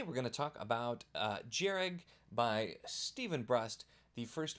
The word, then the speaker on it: Jhereg: In this video, we're actually going to be talking about Jhereg by Stephen Brust, the first book in the Vlad Taltos series, which apparently is how you pronounce all of those things.